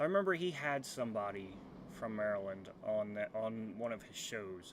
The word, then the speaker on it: Maryland: So yeah, and I see right here, Rambler, good old Maryland.